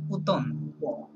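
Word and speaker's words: automne: বলেন উতন সবাই বলেন উতন হ্যাঁ উতন আমরা হচ্ছে ইংরেজিতে বলি অটাম রাইট ফ্রেঞ্চে বলে কি উতন হ্যাঁ এমটা হচ্ছে সাইলেন্ট ওকে এম সাইলেন্ট ইয়েস উতন উতন ওকে উতন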